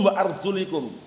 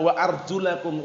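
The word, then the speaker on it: وأرجلَكم: Bacanya mereka, biru'usikum wa arjulikum. Itu salah. Karena menurut mereka kaki itu cukup diusap itu loh. Kalau ma'tufnya ke ru'us, paham ya? Tapi yang benar bagaimana? Wa arjulakum ilal ka'bain.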